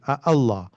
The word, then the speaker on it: Allah: Allah has two Hamzas and the Arabs hated Hamza. Allah was very harsh for them to pronounce Allah. That's how you say it. Allah. So they would convert it into a mud. That would be easier to pronounce. So they would say Allah. And in Taj is six. This is the longest mud there is.